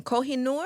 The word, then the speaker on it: Kohinoor: one I don't want to say it wrong Kohinoor yeah yeah you said it right I said